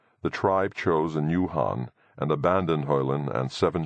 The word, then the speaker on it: Khan: Though it is worth mentioning that they have no K sound. So that Khan would be said as Han.